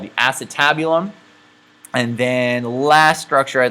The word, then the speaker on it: acetabulum: first time i'm making a video where i pronounce it correctly so it is called the acetabulum and then last structure i'd like to point